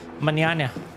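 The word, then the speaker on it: mañana: No, in manana means n is pronounced more like nya manana nya.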